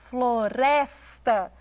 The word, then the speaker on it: floresta: Na palavra floresta, floresta, o res é pronunciado com mais ênfase.